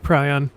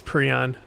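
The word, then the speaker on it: prion: Any equipment that's been contaminated with pryon. Ah or pron. I think the proper pronunciation is Pon, but that.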